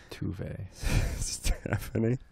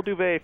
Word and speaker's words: duvet: Touvet. Stephanie, it's great that he made a point of that mispronouncing that word.